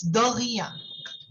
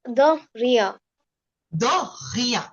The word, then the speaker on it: de rien: So the correct pronunciation is de rien. Okay. Okay. You want to try? You want to say? The rien. De rien. Okay. It should be a little from your throat.